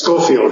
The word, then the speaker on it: Schofield: from um Wisconsin and the city is called scoffield is that right Dr Fairman do I pronounce that right yes scoffield hel scoffield scoffield wonderful well Dr Fairman hi